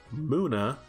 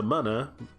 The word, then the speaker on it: Moana: Moana is a muna, not a mana, because apparently Pokemon names have pronunciations.